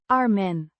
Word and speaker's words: armen: Arma means arms pronounced armen with a short a sound.